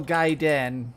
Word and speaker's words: Gaiden: a second here but resident evil gaiden which apparently somebody told me that's how you're supposed to pronounce it this game was actually